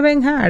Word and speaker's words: Bernhardt: tú estás escribiendo, pero yo no te puedo poner a que tú pronuncies toda la letra de mi apellido. Entonces yo trato de me descomplicarle en la vida a la gente. Mira Benhar, no te compliques.